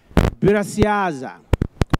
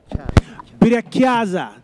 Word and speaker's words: Birakiaza: named my baby gorilla Birasiaza. I think I said that right. Birasiaza. Yes. Is that right? Yes? Birakiaza. There we go. Birakiaza. I said it wrong.